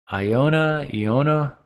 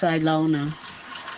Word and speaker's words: Ilona: Is it Leona or Iona, Los Angeles? Oh, you on mute. Yeah, go ahead. Tell me. It's Ilona. Ilona, just like it's spelled, of course.